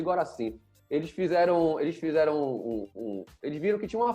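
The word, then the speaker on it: Gorassini: Só que aí tiveram dois psicólogos chamados Spanos e Goracin. Eu não sei como escreve o nome dele, mas eu sei pronunciar que eu nunca mais esqueci. É Spanos e Goracin.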